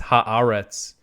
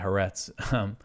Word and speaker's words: Haaretz: And also I know that the proper pronunciation is it's Haaretz, but it's just so much easier for me to say Haaretz.